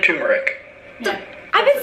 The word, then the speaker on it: turmeric: Am I saying it wrong? Is it turmeric? You're fine. How have I been Turmeric. saying it? Is it turmeric or turmeric? Everyone says turmeric.